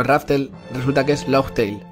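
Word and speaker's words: Laugh Tale: y entonces imagino que la gente lo llamaba Raftel al equivocarse en la pronunciación y se llama en realidad Logtail, o bueno, Goldie Roger le pone ese nombre y ya está.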